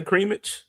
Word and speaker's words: cremage: Don't we all say creamage? What do you say, Stephenzo? Creamage, like with a soft G.